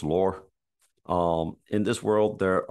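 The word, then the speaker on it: Lurr: I'm calling the word the world lur l u r r maybe pronounce lore um in this world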